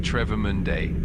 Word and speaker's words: Travemünde: So, we are moving back north again towards Trava Monday. Did I get that pronunciation correct? Uh uh Miles, you're definitely getting closer. Uh it's more like Trevor Mundday.